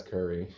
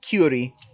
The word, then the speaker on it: Curie: Pronounce that as Curry. No, it's Curie. I always said Curie, but it makes me hungry.